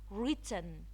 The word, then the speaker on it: written: Written, written. The W here again, it's silent. Crumb, crumb.